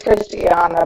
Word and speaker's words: Christiana: It's Christiana, but it's hard to pronounce.